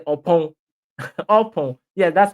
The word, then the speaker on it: Oppong: Oppong. Yeah, that's how they pronounce it.